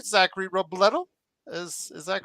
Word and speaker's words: Robledo: Zachary Robledo. Is that correct? That unfortunately is not correct. It's pronounced Robledo. Robledo. Okay, so take Yeah. the E and make it two E's.